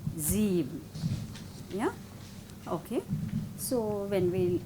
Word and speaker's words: sieben: But if it is in the beginning, Z, sechs, sieben.